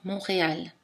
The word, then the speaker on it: Montréal: arthur théâtre ton attention la lettre t n'est pas prononcé dans montréal le th n'est pas prononcé